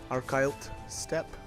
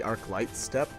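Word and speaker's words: Archylte Steppe: And it's gonna sound so funny when I say that, because normally, and again, I've realized that I've always said it wrong, but I always used to call it the Arclight Steppe.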